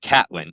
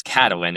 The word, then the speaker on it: Catelyn: No, but it pissed me off so much because I was like, "First off, it's not even pronounced Catelyn. It's Cat-a-lyn.